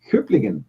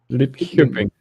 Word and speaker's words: Lidköping: And then Mark Till says in Sweden the letter K is pronounced a bit like the CH in Germany. So Hüppligen. Is that it? Hüppligen. No, it's lit. Lidköping.